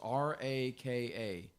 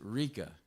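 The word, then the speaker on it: Raca: I ever preached correctly, that word there is R-A-K-A. And I pronounced it Rika. And there was a lady in the audience named Rika. And it's actually Raka. So, Raka, right?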